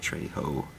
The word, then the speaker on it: Trejo: it's danny trejo trejo so how do you say yeah you have to say trey ho i uh checked out